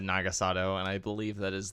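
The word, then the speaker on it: Naga Sadow: nagasato however you say it I've always said nagasado and I believe that is the if you're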